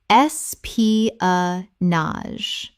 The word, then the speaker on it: espionage: Four syllables with the final GE making a z sound.